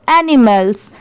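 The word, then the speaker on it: animals: इसे बहुत सारे लोग माल पढ़ते हैं। बट यहां पर इसकी साउंड क्या है? मेल की है।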